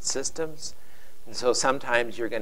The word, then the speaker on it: CSDMS: for the first time this acronym csdms uh no vows we pronounce it systems and so sometimes you're